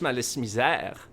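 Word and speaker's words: Malice Mizer: You made the joke that Malice Misère was pronounced in French, but the Japanese love French, so it's actually pronounced in French, Malice Misère.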